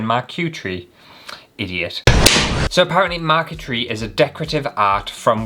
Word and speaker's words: marquetry: Marquetry, or how to even pronounce it, cuz I know I'm butchering that. Maretry. Marquetry. That sounds nicer, doesn't it? What was I saying? Marq tree, idiot. So, apparently mark tree is a decorative art